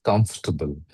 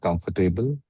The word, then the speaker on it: comfortable: You mispronounce, you mispronounce comfortable. It is not comfortable. It is comfortable. Okay? It is, Um, okay. if you want to know how it is written, it is as Kamf, Kamf, T B L. So it is Kamf, T B L E.